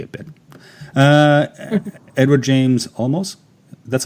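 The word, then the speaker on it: Olmos: Uh Edward James almost.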